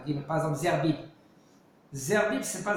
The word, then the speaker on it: Zerbib: Zerbib, c'est pas Zerbib. C'est pas avec un R. C'est un dalet. Non, c'est un Gimel. Hein. Zegbib. Quand tu l'écris Zegbib. Et quand tu le prononces, tu dis Zerbib. Parce qu'il n'y a pas le dagesh. Parce qu'il n'y a pas de dagesh. C'est vrai, il n'y a pas de dagesh.